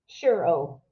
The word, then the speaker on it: Ciurro: Did I pronounce that correctly? Ciurro.